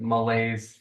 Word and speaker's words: malaise: yeah, it's just that feeling of like malaise and like. Oh, that's yeah.